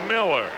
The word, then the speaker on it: Mueller: But in this case, Bill says the correct pronunciation is Miller.